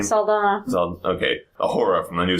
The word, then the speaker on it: Saldana: We also got Zoe how do you pronounce her last name? Saldana.